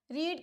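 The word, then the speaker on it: read: A book is रीड की मेरी three forms जो थ्री फॉर्म ऑफ़ वर्ब होती है। रीड रेड रेड। वो स्पेलिंग सेम फॉलो करता है बट उसकी प्रोनंसिएशन हो जाती है रेड रेड रेड।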